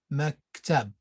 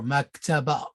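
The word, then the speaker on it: مكتب: it tab mac tab it's pronounced mac tab or mac taba now with mac table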